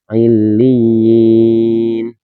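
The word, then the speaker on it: عليين: Nah di sini teman-teman ya illiyin, tapi di sini tidak dibaca panjang.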